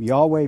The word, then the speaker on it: Yahweh: main God who has a name Yahweh pronounced something like your way but they also worshiped